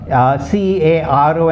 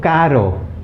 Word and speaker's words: caro: container okay now know the difference you must pronounce these properly for example in the case of c a r o and c a double r o they are